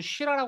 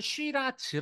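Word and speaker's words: Shiraz: 아고 하는 와인이 있는데 프랑스에서는 슈라라 말을 하기도 하고 호주에서는 쉬라즈 아고 이제 발음을 하기도 하는데 마시기가 굉장히 쉬워서 대중적인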